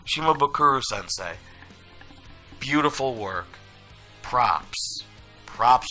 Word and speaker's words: Shimabukuro: saying they and David haha how do you pronounce his name shikha no shima boo shimabukuro that's a nice name shimabukuro sensei beautiful work props props to the highest